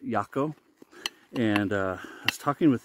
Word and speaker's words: Jaco: Speaking with Jaco, it's spelled Jaco, and that's what I called him in the first impressions, if you saw that. It's actually pronounced Jaco.